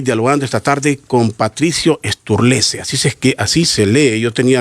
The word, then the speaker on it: Sturlese: Estoy dialogando esta tarde con Patricio Sturlese.